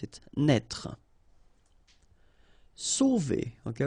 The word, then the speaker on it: sauver: Sauver. Okay, remember when you combine A and U, you get the sound O. So really like the letter O.